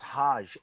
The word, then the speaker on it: Hodge: hoge the the tristan hodge the guard from yeah from byu i think it's pronounced hajj remember yeah meryl hodge